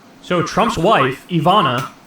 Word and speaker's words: Ivana: Why do Brits say things like that? Like like Ivonor like dater like what is this Why they add an R to words? There's no R like say like aluminium, you